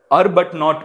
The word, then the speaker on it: Arbuthnot: எப்படி நான் ப்ரொனவுன்ஸ் பண்ணிக்கோங்க, அர்பட் நாட் பேங்க் அப்படின்னு வந்து நான் வந்து ப்ரொனவுன்ஸ் பண்ணுறேன்.